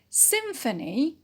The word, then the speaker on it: symphony: leave it as rest symphony symphony is a noun and it is stressed on the first syllable sim with is a preposition